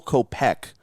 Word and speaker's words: Kopech: Might be a little bit of a crazy return here, but how about Michael Kopech of the Chicago Did White you just Sox? put the emphasis on the wrong syllable?